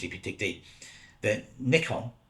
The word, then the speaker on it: Nikon: you dig deep then Nikon it's what you're supposed to say the original pronunciation was Nikon now Nikon sounds very close to Icon because the first cameras